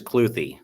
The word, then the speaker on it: Kluthe: see you sir yeah so last name is cloy cloy yes sir CL yes sir okay excellent well been pronounced wrong all my life so we're good well